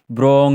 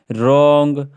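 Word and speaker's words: wrong: डब्लू है silent है हम इसको हम ऐसे ब्रांग नहीं पढ़ेंगे ब्र ब्राइट नहीं पढ़ेंगे ब्रैप नहीं पढ़ेंगे ठीक है ना इसको हम पढ़ेंगे रंग रा रीट राइट है ना डब्लू डब्लू आर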